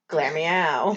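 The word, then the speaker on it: Glameow: me like really pronunciating it's glamio yeah that's correct yeah clear me out yeah that's right okay anyway you're putting the infinite emphasis on the glam it was glam yeah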